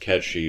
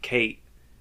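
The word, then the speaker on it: Cait Sith: didn't get to that um it's always been pronounced catchy for hundreds of years right like this is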